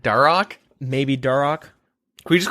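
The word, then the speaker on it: Dharok: Oh, on a side note, could you guys please stop pronouncing the H in Deharok? A piece of me dies every time. Herok like that. Darok.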